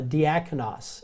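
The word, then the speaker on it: διάκονος: a final s or Sigma it's called a diaconis and this is servant or waiter it's where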